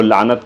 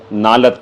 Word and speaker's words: لعنت: وہ لعنت کے بجائے نالت کہتے ہیں. نالت جو ہے کوئی لفظ نہیں ہے، صحیح لفظ لعنت ہے.